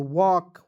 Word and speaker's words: walk: क्यों, क्योंकि यहाँ पे देखिए एल को यहाँ पे मैंने साइलेंट कर दिया। ठीक है, उसी प्रकार WALK तो वॉक वॉक पढ़ेंगे।